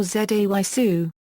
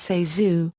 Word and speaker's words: ZaSu: Although the name is commonly mispronounced Zazu or Zaysu, or Zayzu, in her 1963 book Candy Hits, Pitts herself gives the correct pronunciation as Zazu, recounting that Mary Pickford has predicted, any will